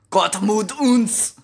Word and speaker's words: Gott mit uns: I'll say it as close as I can to pronouncing the German language, Deutsch or whatever. Gott mit uns, right?